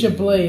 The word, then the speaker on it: Chablis: Chablis, that's it.